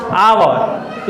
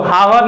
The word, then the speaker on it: hour: तो देखिए तो HOUR क्या है? आवर। इसको हावर नहीं पढ़ेंगे, क्या पढ़ते हैं? आवर।